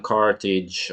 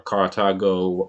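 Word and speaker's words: Carthage: war Punic Wars between Roman carage or cartago however you want to pronounce it over 2,000 years ago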